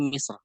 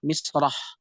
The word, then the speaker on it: مصر: Mim dalam keadaan kasroh, sad dalam keadaan sukun, ra. Dan kemudian dia di wakaf atau berhenti, maka dibacanya menjadi Misr. Dan hadirin perbedaan di sini terjadi adalah ketika Misr sendiri kalau diwasalkan maka membunyikan fathah, misrah, misra. Jadi dia difathahkan.